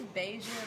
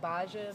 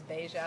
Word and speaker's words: Bahja: It's Bahja. My mom pronounces it like Bahja, but it's like my pronunciation of it is Bahja. I feel like that just sounds better.